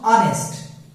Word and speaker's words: honest: अगर H के बाद O आता है तो H remains silent. H remains silent. H is not pronounced. नहीं आता उसका pronunciation. जैसे honest. You are not honest. Man. You are not honest. आप honest नहीं. अब देखो इसको honest बोलते हैं. क्या बोलते हैं? Honest. But it is pronounced honest. Honest. It's pronounced honest.